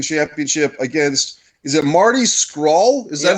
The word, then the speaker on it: Scurll: Is it Marty Scurll? Is that Yep. how I pronounce it? Yep. Marty Scroll.